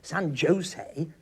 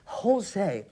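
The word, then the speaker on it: San José: got this wrong well it's not pronounced San Jose hey huh no it says whole say he shoots a hate huh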